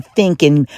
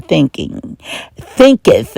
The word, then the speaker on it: thinketh: just pick up the book As a Man Thinking by James Allen. That's right. As a man thinketh.